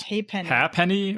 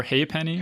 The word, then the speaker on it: halfpenny: It's usually pronounced halfpenny or haypenny.